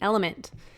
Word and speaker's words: LMNT: of our sponsors lmnt element it's spelled lmnt but pronounced element if you haven't heard